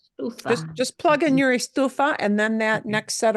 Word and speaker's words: estufa: Stofa? Is that stove means stove? Oh, estufa.